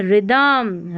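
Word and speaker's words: rhythm: आर एच को र पढ़ना है क्योंकि आर को र पढ़ा है लेकिन एच साइलेंट है। ठीक है? यहां पर है रिदमम राइम।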